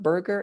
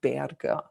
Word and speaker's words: Berger: It's not Berger, it's Berger. Okay.